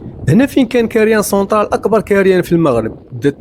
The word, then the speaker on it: كاريان سنترال: اسم كاريان سونترال جا من هاد العمال المهاجرين كيبغيو ينطقوا مقلع الحجارة بالفرنسية كارير دو لا سونترال، بالفرنسية كينطقوها بكاريان سونترال. تزادوا الناس وكبر كاريان سونترال وتجاوز أراضي البلدية، واصحاب